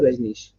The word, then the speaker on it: Rajnish: how do you say your name ranesh osho rajneesh so my dad was like oh needs to